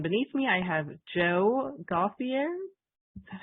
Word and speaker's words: Gauthier: And beneath me, I have Joe Gauthier. Is that how you pronounce it, Joe? It's Gauthier, but it doesn't really matter.